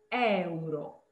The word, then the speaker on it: euro: Questo è euro. Euro. So no, we say euro. So yeah, you have to see the E. In Italian you say all the vowels. So Yes, euro.